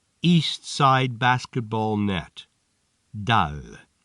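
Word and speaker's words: دال: Dal. This letter is pronounced more or less like dal.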